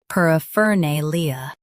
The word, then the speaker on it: paraphernalia: paraphernalia First, let's hear its American pronunciation.